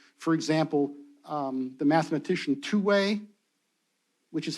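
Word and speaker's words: Thue: in in nomenclature for example um the mathematician two-way which is how his name is pronounced I've been told the system of computation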